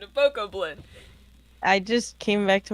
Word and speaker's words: Bokoblin: It doesn't rhyme with goblin!